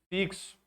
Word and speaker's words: fixo: Aqui nós temos o dífono, porque eu tenho aí o X com som de KS, fixo.